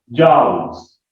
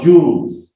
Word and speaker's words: joule: तो Newton metres को हमने मिला के क्या बना दिया, जाउल्स और जूल्स, denoted by capital J।